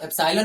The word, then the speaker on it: एप्सिलॉन: एप्सिलॉन से इसका जो है उच्चारण एप्सिलॉन होता है, लेकिन इसको हम बोलते हैं ये निर्वात की विद्युतशीलता है।